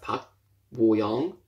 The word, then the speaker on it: Park Bo-young: So, as you can see here, we have the name in English, Park, which is pronounced Park Bo Young, not Young, Young. Okay, here in Hangul, Park Bo Young.